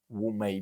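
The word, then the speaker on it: 五枚: Donc quand on entend 8e génération, c'est directement depuis, cet ancêtre-là, hein, Ningmo Wu Mei, puisque c'est comme ça qu'est est prononcé en mandarin.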